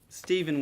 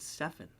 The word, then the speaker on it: Stephen: yes it is what Steven with a V King okay that's a little deceptive yeah you're telling me you know he spells his name with a pH and he doesn't pronounce it Stefan what's up with that